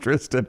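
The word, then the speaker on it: Thriston: it or pronounced spell thrist but it's it's pronounced Tristan but I like thirst I thought it was thirst to start with too I was like way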